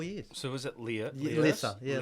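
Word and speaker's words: Lierse: So was it Lissa? Yeah, Lissa. That's how you pronounce it.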